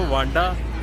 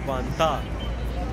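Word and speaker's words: 万达: English में pronounce करूँ तो वांडा और अगर चाइनीज में प्रोनाउंस करूँ तो वांता।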